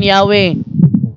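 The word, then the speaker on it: Yahweh: 1950 an sinaba while inclining to view the pronunciation yahwe as the more correct way more yah we have the form Jehovah because of people's familiarity with it Ano daw since the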